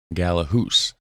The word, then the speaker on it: Gallehus: the golden horns of galahoose i pronounced it wrong the first time galahoose all right so shout